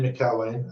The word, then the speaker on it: McElwaine: you're gonna have to you're gonna have to pronounce it yourself I think yeah my name is uh mccarway and um from Sheffield originally but live down